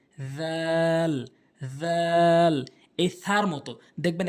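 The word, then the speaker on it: ذ: একদম নরম করে উচ্চারণের নিয়ম হচ্ছে জিহ্বার আগাটা জিহ্বার আগাটা সামনে দুটি দাঁতের আগাতে লাগাবেন। দাল দাল এই সার মতো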